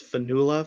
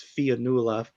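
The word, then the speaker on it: Fionnula: I originally thought it was Fianula before I heard her say it, but she's Irish, so that's why it's spelled and pronounced like that.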